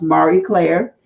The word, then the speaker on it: Marie Claire: Claire but as pretty as French so it's pronounced Marie Claire and I met her when before she left